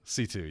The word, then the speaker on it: C2: I said 2C. Is it C2? C2, yeah.